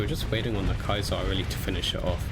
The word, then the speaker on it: Caesar: If you actually pronounce it in Latin, it's Kaiser, not Caesar.